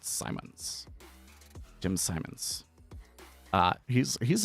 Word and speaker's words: Simons: Jim Sim because I always say it wrong and I I think it's Simmons, but I'm I'm pretty sure it's pronounced Simons.